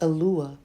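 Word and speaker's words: Eloah: to the singular form of Elohim it is pronounced alua H 433 it occurs 60 times in the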